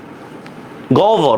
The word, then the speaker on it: গহ্বর: আর এটা মনে রাখেন, হর সাথে যদি বফলা যদি যুক্ত হয় তাহলে এটার উচ্চারণ কি হবে? ও ভর অথবা রস্যৌ ভ দিয়ে, ঠিক আছে? এক্সামে কি এইভাবে বানিয়ে লেখা যাবে? গহ্বর, হ্যাঁ, এই দেখেন গহ্বর,